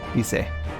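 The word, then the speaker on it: Lyse: I think in Japanese it was Lise, but I'm going to double check this. Hold on. Yeah, it is Lise.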